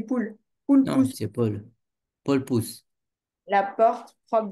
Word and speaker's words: Paul: C'est pas poule, c'est Paul. Oui, j'ai dit Paul. Ah, moi j'ai compris poule. Poule Non, pousse c'est Paul.